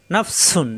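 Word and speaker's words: نَفْسٌ: নাফসুন, জিব্বা নিচে তাতে চাপ দিয়ে, নাফসুন।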